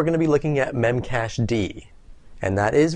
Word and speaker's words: memcached: this episode we're going to be looking at memcache d and that is right that's how it's pronounced memcached evolved out of the live journal